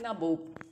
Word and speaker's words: Nawab: But the British people cannot pronounce same as we pronounce, right? So they just tried to pronounce Nawab and they pronounce like Nabob. Okay, so these both are having same meaning, this Nawabs and Nawabs, same meaning, but Nabob is the anglicized version of Nawab.